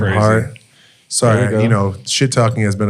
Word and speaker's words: Hart: Last name rhymes with fart. First name Josh. Last name crazy. Hart.